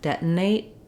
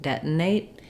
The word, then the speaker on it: detonate: right out of the into my a diphthong detonate detonate and here with the final T I can say it detonate and let the air out or I can use another unreleased T detonate detonate so I just stopped that a sound very quickly and then my T may or may not come out um how we say t